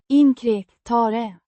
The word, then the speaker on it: inkräktare: Pronounced Inkräktare. with the stress on the second syllable. The Kär. makes a sound similar to a throaty cr, while the final e is a short, unstressed sound.